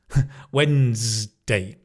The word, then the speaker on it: Wednesday: drop the d sound and then the ne becomes n. Wednesday and it's a z, not a s. Wednesday. Famous character from the Adams family. Wednesday. Give a really strong stress on the when.